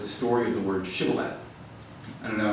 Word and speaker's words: shibboleth: They didn't have the sh sound in their dialect, and so they said sibboleth.